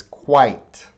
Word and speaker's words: quite: sound right quite there's you see two vowels you see the I in the e but the e doesn't make a sound it's quite quite that's one syllable quite quite alright the next